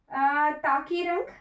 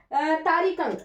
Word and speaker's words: तारिकंग: था, आपकी प्रोनाउंसिएशन से तारिकंग, सॉरी, मेरे प्रोनाउंसिएशन से ये ताकीरंग बन गया, वैसे इसका नाम है ताकीरंग नहीं है, तारिकंग है, ठीक है।